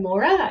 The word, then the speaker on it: Maurer: Yes, it was Maurer is how we would pronounce it, I guess, in Australia. And you're in Australia.